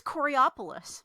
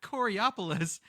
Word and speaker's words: Coraopolis: This is Coraopolis. Coriopolis. Okay. No, it's not. See, See that letter the way you just pronounced it, Coriopolis, that would imply a non-A there.